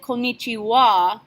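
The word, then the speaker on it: こんにちは: you really need to know is that we pronounce it konichiwa but rewrite it konichiwa same thing with good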